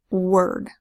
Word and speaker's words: word: First one is word. Word is spelled W-O-R to say wor, and a D that says D. Word.